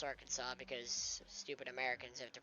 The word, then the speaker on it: Arkansas: Old State of our Kansas even though it's pronounced Arkansas because stupid Americans have to pronounce things differently